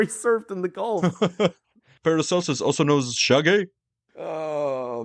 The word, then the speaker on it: Paracelsus: In On the Nature of Things, the Swiss alchemist Paracelsus, I completely mispronounced that, Paracelsus.